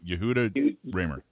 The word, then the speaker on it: Yehuda Remer: not first off get your name right you yahoo ramer you did yeah i know it's a hard name to pronounce i was on the show with uh